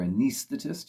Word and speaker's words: Anaesthetist: Number 76, I've put Here Comes the Supernatural Anaesthetist, or Anaesthetist, if you follow the pronunciation that Peter uses on the recording.